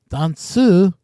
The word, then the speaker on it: ダンス: danu not dance danu dansu is how they pronounce dance in Japanese this is the original